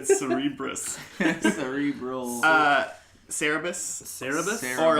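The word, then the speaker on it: Cerberus: Cerebrus? I mean, close. It's people. It's now I can't say it right because you said Cerebrus. Cerebral. Cerebus.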